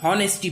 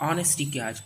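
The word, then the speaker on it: honesty: ऑनेस्टी, इसको कई लोग हॉनेस्टी बोलते हैं, एच के कारण हॉनेस्टी बोलते हैं। आपको बतला दूं कि एच यहाँ पे साइलेंट हो जाता है और इसका उच्चारण अ किया जाता है और इसे ऑनेस्टी कहा जाता है, ऑनेस्टी।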